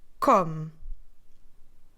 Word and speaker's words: come: see or m e but we kind of dropped that e at the end we stressed for syllable so we do voice com put it in a